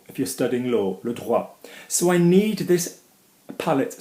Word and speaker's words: droit: Droit, droit, okay, is right, as in human rights, or law, if you're studying law, le droit.